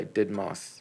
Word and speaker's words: deadmau5: also by a master class i'd watched by dead mouse you guys know dead monster yeah that's how